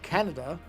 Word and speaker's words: Kaneda: The main hero character, Kaneda, or I guess as it's supposed to be pronounced, Canada, and I really just can't wrap my head around pronouncing it that way.